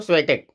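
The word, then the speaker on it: Świątek: इनका नाम है, अपने हिसाब से यहाँ पे प्रोनाउंस किया जा सकता है। स्वियातेक यहाँ पे पीडीएफ में लिख दिया गया है, तो स्वेटेक, इसको स्वेटेक बोलते हैं।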